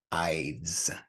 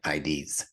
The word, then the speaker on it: Ides: you with my Jab this word is actually pronounced eyes not IDs I thought I wasn't